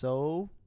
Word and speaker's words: SOHCAHTOA: Now, a way of memorizing this, again, is by using this abbreviation, this acronym, which is pronounced SOHCAHTOA.